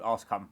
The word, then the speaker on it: Ascombe: And Scott Ascombe, who I called Ascombe on the on the episode. So Ascombe is how you pronounce it.